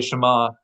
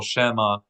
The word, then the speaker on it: Shema: how if you say Shama if you say it too quickly or you accent the wrong syllable Shema it could sound like something other than here oh Israel it could sound like